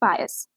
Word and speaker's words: pious: इसके कुछ चेंजेस हो सकते हैं, जैसे कि एक्सेप्शन में पहले बता देती हूँ, जहाँ पर IS होगा इज पायस।